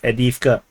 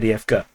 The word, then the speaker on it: Avdiivka: So some people tell me to pronounce it as Avdiivka. I pronounce it as Avdiivka.